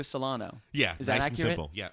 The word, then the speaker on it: Solano: Solano.